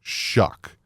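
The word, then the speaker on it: Shough: think it'd be Shuff but it's pronounced shuck and I literally went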